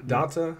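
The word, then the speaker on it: D'Onta: Daonta? Is that how you pronounce that? D apostrophe O-N-T-A? Daonta? Yeah. Daonta.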